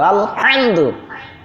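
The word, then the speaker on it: الحمد: আলহামদু না তো আলহামদু, গলার মাঝখান থেকে হা উচ্চারণ হয়।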